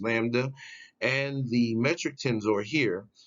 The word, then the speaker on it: Lambda: this figure the product of the cosmological constant pronounced Lambda and the metric tensor here and the stress